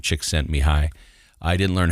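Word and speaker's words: Csikszentmihalyi: book called flow and his last name is chick sent me high so if it starts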